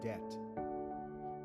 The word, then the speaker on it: debt: The business has no debt. DB BT is pronounced debt.